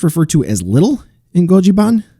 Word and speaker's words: Godziban: to as little in goji ban which gojiban would technically be the correct pronunciation or godzi ban if you're english you know anyway little